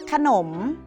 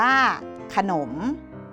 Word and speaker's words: ขนม: ตาม เลย นะ คะ ขนม มี อักษร ขอ ไข่ นำ สะกด ว่า ว่า ขอ อโหสิ นร อค มม หนม อ่าน ว่า ขนม ถนน มี อักษร ทอ